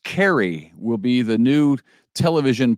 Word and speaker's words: Caray: cards uh we know chip Carey pronounced Carrie will be the new